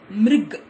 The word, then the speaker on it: मृग: सी the next one, म is having री की मात्रा, मृ, हाउ you going to pronounce this word, मृ, and this is ग, मृग, ओके।